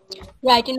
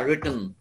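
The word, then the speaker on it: written: করব সেভাবে কপি করবেন আমি যখন রিটেন বলতেছি আপনি কিন্তু রাইটেন কেন বলতেছেন আমি যখন বলবো রিটেন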